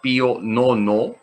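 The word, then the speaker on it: Pío Nono: definido por el papa pio nono se escribe bio romanos 9 se dice pionono acuerdense los bizcochos es un documento que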